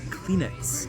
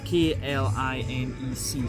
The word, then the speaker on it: Klinec: barrels with indigenous yeasts from the wine cellar Klinec, if I have the pronunciation right. K-L-I-N-E-C, so Klinec, if I am doing well with my Slovenian.